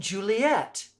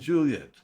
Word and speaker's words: Juliet: are petruchio Romeo and Juliet count those syllables two syllables for Romeo two syllables for Juliet's and three syllables for petruchio